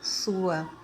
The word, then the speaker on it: Sua: capítulo 38 Versículo 2 lá o nome não tem acento então a pronúncia é sua mas como na Bíblia